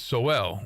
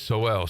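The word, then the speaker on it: Sowell: and to his credit some of us myself included at least once mispronounced his name because I was sold it was sold but it's so well it is so well so uh but Chase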